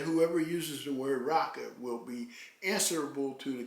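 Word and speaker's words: raca: It's comparable to an Aramaic term Jesus condemned in the Bible, raka. It's spelled R-A-C-A. Just like the N-word, raka is a derogatory term used to show contempt for a person.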